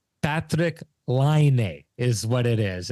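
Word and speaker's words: Patrik Laine: But the Finnish language, the punctuation is always on the first symbol or a syllable, always on the first syllable. So it's Patrick Laine is what it is.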